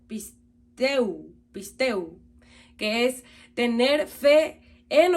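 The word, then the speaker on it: πιστεύω: Esta palabra se pronuncia pisteu, que es tener fe en o con respecto a persona o cosa, es decir, crédito, por implicación, confiar.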